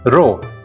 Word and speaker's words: ロ: This is ro.